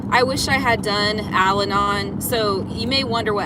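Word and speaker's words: Al-Anon: I wish I had done Alanon.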